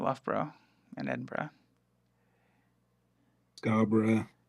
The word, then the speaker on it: Edinburgh: yeah is that there's all the others that have just Borough at the end or bruh at the end as we pronounce it as bruh Bruh Bruh Edinburgh Loughborough yeah I did